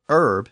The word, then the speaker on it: herb: Britain so the initial H was still silent in Middle English and early modern English and when English speakers settled parts of the new world in the 17th and 18th centuries they brought that pronunciation with them that's why it's still Herb in American English but in the 19th century the pronunciation changed in England and the word finally got its original H sound back and there's an interesting